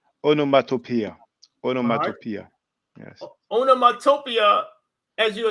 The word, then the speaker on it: onomatopoeia: Well, I'm not sure how you pronounce it exactly. Oh, there's just the sound. Onomatopoeia.